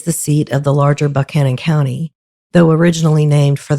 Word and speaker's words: Buchanan: seat of the larger buckhannon county though originally named for the 15th american president james buchanan i am in fact pronouncing the county like the locals do so please spare me